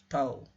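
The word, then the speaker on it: τ: Untuk sistem kedua atau partikel kedua, maka dia elemen volume ruang fasanya adalah d tau, ini dibacanya tau, d tau, ini partikel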